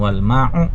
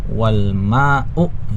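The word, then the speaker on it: الماء: Wal mau ya pakai hamzah bukan pakai ain. Bukan wal mau tapi wal mau wal mau harun.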